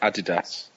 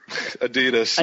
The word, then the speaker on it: Adidas: Yeah, I was going to point out the difference in pronunciation. Andy's been American for three weeks, so he's been away from England too long. So we call it Adidas. Adidas, yeah.